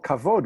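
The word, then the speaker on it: כבוד: The kamatz, the T-shaped vowel under the k, would be an o and not an a, and the stress accent would be on the first syllable, so it's kovid.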